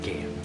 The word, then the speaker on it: Gaia: I like Gaia. It rhymes with this word, gaiety, joy.